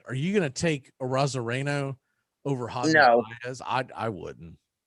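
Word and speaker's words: Arozarena: I'm sure you probably pronounce it Arizona, but Randy Arozareno, they've got him ranked 59th overall.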